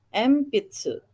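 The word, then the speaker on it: えんぴつ: Contoh N ketemu dengan P ya, empitsu. Empitsu. Itu maaf kelebihan ya, ada huruf T-nya itu dihapus saja, harusnya ENPITSU. Enpitsu ditulisnya, dibacanya empitsu.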